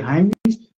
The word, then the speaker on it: Heimlich: fazer uma manobra de Heimlich, que se chama, é de um alemão, se escreve Heimlich, se escreve como se fosse Heimlich, se lê Heimlich, que é colocar a